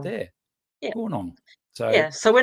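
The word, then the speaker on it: Goornong: Gornong.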